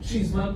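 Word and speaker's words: Cheesman: It's not cheese like in cheese, it's C-H-E-E-S-M-A-N. Don't put in the extra E's. Almost like chestnut, but it's E, so it's cheese.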